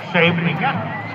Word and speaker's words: Scheveningen: How do you pronounce Scheveningen? Scheveningen.